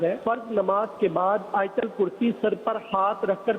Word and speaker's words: آیت الکرسی: جواب ارشاد فرما دیجیے۔ یہ آیت الکرسی عوام بولتے ہیں، صحیح تلفظ ہے آیت الکرسی۔ سر پر رکھ کر